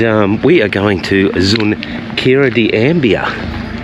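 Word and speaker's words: Xunqueira de Ambía: And um we are going to Zunkira de Ambia. That's how you pronounce it, Zunkira de Ambia.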